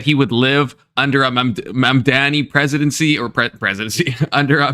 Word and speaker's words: Mamdani: Saying that he would live under a Mamdani presidency or presidency under a Mamdani.